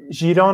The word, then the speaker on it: Giron: Giron. Non ho mai visto. Chiron, però la pronuncia corretta sarebbe. Chiron contro Paul.